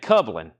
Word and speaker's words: Kublin: name cuin kublin kublin rhymes with Dublin Ireland so kublin cin